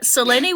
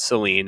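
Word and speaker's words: Selene: Seleni was the Greek goddess of the moon. It has three syllables.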